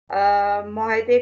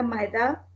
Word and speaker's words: मुआहदे: जैसे तालीम को आपने बोला था तलीम, मुआहदे को आपने बोला था माहिदा, और मालिक है को आपने मालिक है।